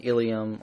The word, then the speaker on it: ileum: Ilium and ilium are both pronounced ilium.